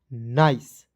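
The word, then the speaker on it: nice: सी ई क्या पढ़ेंगे तो एन का न होता है और आई से ई का उच्चारण दोस्तों आइस के रूप में करना है तो क्या हो जाएगा नाइस क्या हो जाएगा दोस्तों नाइस नाइस मीस क्या होता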